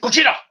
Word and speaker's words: Gojira: out uh new new gojira just came out whoo that's sorry cookie dough gotta say it like that you can't say just say go jira just say like a japanese accent go cheetah good